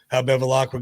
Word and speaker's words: Bevilacqua: what happened, show how Bevilacqua got mad. I'm sure I keep saying his name wrong. I know I am. Bevilacqua. Bevilacqua. It is Bevilacqua.